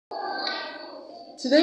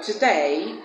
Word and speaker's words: today: We have that sound at the beginning of the words around, also, again, and at the first syllable of the word today, and the first syllable of the word tomorrow. Tomorrow.